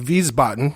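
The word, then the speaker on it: Wiesbaden: there in Germany in viboton so to speak if I'm pronouncing that correctly the W is pronounced with the v in VB and down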